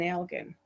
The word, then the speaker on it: Elgin: There's an Elgin in Ontario, and there's another one which escapes me at the moment, but all the rest of them are Elgins. Right. But all the ones with a hard G like we have people